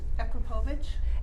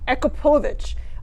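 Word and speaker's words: Akrapovič: So you've got, how do you pronounce this again? Akrapovic. Akrapovic.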